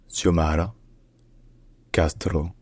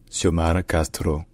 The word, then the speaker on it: Xiomara Castro: country's first female president in Spanish her name is pronounced suara Castro suara Castro suara Castro SAR cast